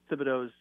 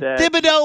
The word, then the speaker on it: Thibodeau: job to lose and is it thibodeaux or thibodeau because he's known as tibbs everybody says tips but it's spelled with the th so are we doing the silent h thing yeah it's tibs but the full name